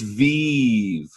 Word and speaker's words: Viv: But first things first, let's get the pronunciation correct. All right, let's get it out of the way. It's VIV.